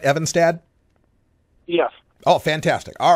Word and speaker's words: Evenstad: s and do I have the name pronounced right evad yes oh fantastic all right glad I got